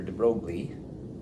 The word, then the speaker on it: de Broglie: Right, in the next year, 1923, French physicist Louis Victor de Broglie, it might be pronounced de Broglie if you're French, but I'll say de Broglie, said if photons have